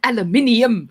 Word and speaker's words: aluminium: Aluminum. Um, aluminium.